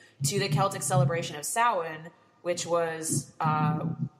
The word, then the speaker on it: Samhain: Like, this way, anybody looking to Google it, it's spelled like Samhain. Yeah, Samhain. Samhain. It's pronounced Samhain. It's a Celtic celebration of the dead.